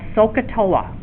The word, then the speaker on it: SOHCAHTOA: three ratios is called SOHCAHTOA. So what did I just say? Let's get this book out of my way. So is spelled S-O-H. Ka is C-A-H. And then Toa, T-O-A. SOHCAHTOA.